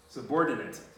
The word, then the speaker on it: subordinate: this one so it's only the verb is pronounced to born inmate this one is not this is pronounced subordinate subordinate so everybody say subordinate so pardon so let's